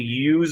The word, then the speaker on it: use: pronounce the z sound use of when it is work but when it is used as a noun then you can say use of like not z sound you can pronounce the S sound use of but anyways